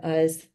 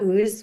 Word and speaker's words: Uz: Job, and it's set in the land of Uz, not Ooze, which was how I was pronouncing it, like Teenage Mutant Turtle Ooze style.